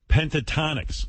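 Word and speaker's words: Pentatonix: Pentatonics.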